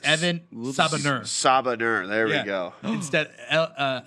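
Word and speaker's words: Evan Sabahnur: It's Evan Sabanur.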